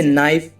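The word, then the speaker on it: knife: और ऐसे ही और भी एग्जाम्पल है गाइस, जैसे नाइफ, नाइफ माने चाकू, नॉक, नॉक माने खटखटाना, नाइट, नाइट माने सूरबीर, नॉलेज, नॉलेज माने ज्ञान।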